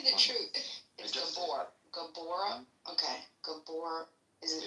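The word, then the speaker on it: Gabor: Is it Gabbor? Is that how you pronounce it? Tell me the truth. Gabbor. Gabbor. Okay. Gabbor.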